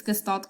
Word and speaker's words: Gestalt: so fun fact uh gestalt is actually a german word and the correct pronunciation is this i mean i could i could make an attempt of myself but honestly i do not want to embarrass myself i'm going to pronounce it anyways it's gestalt qualitative okay